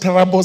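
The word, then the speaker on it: Turbo: The recruitment will be conducted in the following sub-counties: Trubo, sub-county, it's pronounced Tarabo sub-county, Paul Boyd Boys High School at 8 a.m.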